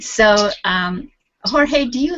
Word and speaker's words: Jorge: for people from here, it's very difficult to pronounce Jorge. Jorge is difficult. Okay. It's difficult. Then when I speak in English, sometimes I said George, but no, I prefer Jorge.